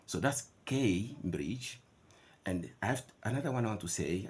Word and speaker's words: Cambridge: yourselves first of all the pronunciation of this word is not is never never never Cambridge no it's a a Cambridge that's something we should